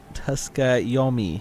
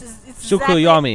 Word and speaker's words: Tsukuyomi: Tuskayomi. The T is silent. Ah, like tsunami. It's Tsukuyomi.